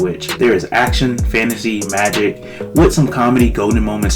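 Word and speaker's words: Majik: One day he stumbles across a creature which he eventually learns is called a magic, which is spelled M-A-J-I-K, and he wants to hunt it, of course.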